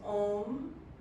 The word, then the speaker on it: Om: And we'll take one chant of Om, 3 syllables, A-O-M, to formally open practice.